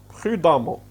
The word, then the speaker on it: prudemment: Donc prudent, prudemment. Pardon, ça se lit amant. D'accord? Prudent, prudemment. D'accord? Ça s'écrit avec un E, mais ça se lit comme si c'était un A. Prudent, prudemment.